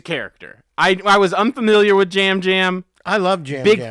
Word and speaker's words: Yam Yam: It's Jam Jam. It's spelled Yam Yam, but it's he pronounced pronounces Jam it Jam.